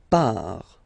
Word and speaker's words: part: Il, elle, part.